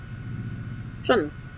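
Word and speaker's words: -tion: Shun. Yes. It's pronounced shun. In that syllable.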